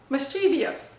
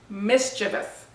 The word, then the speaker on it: mischievous: Now, most of you have probably looked at this word and said, oh, mischievous, right? That's what it looks like, mischievous. Actually, the word is mischievous. This is one of those pronunciation pet peeves that I have, mischievous. Think of the word mischief, and all you're doing is replacing the F with V-O-U-S, mischievous.